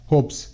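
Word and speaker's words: hopes: প্রত্যেকটি ওয়ার্ডে কনসোনেন্ট আছে, তাই এখানে ই এর পর এসের উচ্চারণ বর্গীয় জয়ের মতো না হয়ে শয়ের মতো হবে, হোপস, হোপস। Bytes, B আই টি S, bytes, bytes.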